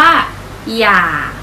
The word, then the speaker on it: อย่า: ตัว สะกด เดียว กัน แต่ ว่า เวลา อ่าน ออก เสียง นะ คะ เด็ก ๆ จะ ไม่ ออก เสียง อ๋อ อ่าง จะ ออก เสียง หอม นำ นะ คะ จะ มี อยู่